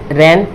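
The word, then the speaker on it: reign: इसी तरीके से अब यहाँ पे क्या है, एन से पहले क्या है, ये जी है, तो जी क्या हो जाएगा आपका साइलेंट हो जाएगा। तो क्या हो जाएगा, रैन मतलब शासन, एशाइन मतलब देना।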